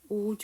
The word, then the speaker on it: would: would에서 L 사운드가 묵음이에요. 이렇게 활용되는 거 뭐 있으십니까? 그쵸. could, should.